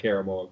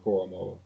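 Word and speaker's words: Owusu-Koramoah: My man, not Karamoa, Koromoa.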